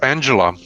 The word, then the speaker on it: Anxhela: have the correct name it's angela it's angela angela peristerium it's like just angela okay and angela's song